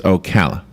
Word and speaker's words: Ocala: to me excuse me is this Okala or Okala so first he wants to know the pronunciation of the city I said it's Okala then he says do